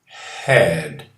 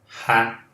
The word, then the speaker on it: had: O passado de have, eu pronuncio had. Não é um som de E, simplesmente. É um som de A junto com o som de E, lá no fundo da garganta.